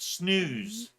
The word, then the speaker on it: snus: So, Scott pronounces it snooze. Snus, snooze. Snooze. Like Seuss. Snooze? I've never. Yes, Dr. You're killing me, Smiles. Snooze rhymes with loose, moose, Kitty obtuse.